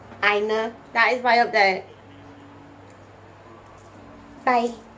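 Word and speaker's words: Ainur: I know that A-I is pronounced I, so Einar.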